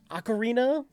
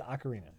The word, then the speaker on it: Ocarina: can okay uh acarina okarina is that the actual proper way no I I I don't even remember what you said it right first and then went back to okar acarina it's Ocarina okay okar of times Ganon